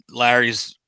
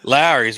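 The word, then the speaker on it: Lawry's: Right, grew up on Kingsford charcoal and Larry's seasoned salt, a lot of Lowry's, right? How do you say it? Lowry's, Lowry's. I thought you said Larry's. Larry's. Larry. I'm an Okie. That's how we talk.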